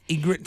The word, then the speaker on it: Ygritte: it Rose is it how you pronounce it Ygritte it is what I go for Ygritte it is a tough pronunciation yeah weird spelling well thanks for coming